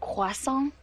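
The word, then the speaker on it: croissant: got back from Europe it's actually pronounced quason I was just in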